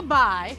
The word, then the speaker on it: Bai: Now, the Zanga Bai, I think I'm saying it right, is pronounced Zanga, but it's spelled Dzanga, and Bai is Bai.